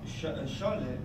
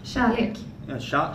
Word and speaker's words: kärlek: Scholle is.